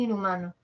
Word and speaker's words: inhumano: no cómo sería en inhumano a ver la H no suena hago de cuenta que no está la n que está